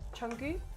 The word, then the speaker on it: Jungkook: Jungkook. I Jung- believe yeah, that's, Jungkook.